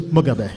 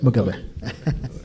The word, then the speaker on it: Mugabe: Well, the actual way is Mugabe, is how it's said, Mugabe.